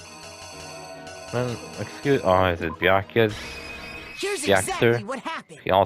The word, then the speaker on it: Byakuya: Byakuya's name pronounced Byakuya.